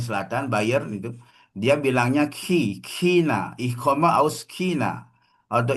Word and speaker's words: China: Oke, Cina untuk pengucapan negara Cina secara apa? Secara Hochdeutsch gitu ya. Standar itu dia baca Ich laut ya, she. Ich komme aus China gitu ya.